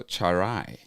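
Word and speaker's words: Tswaray: Char and then like rye bread. So, you go charai.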